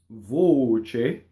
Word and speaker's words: voce: Mia voce. Okay, closed O. Not voce with the double ch. Voce.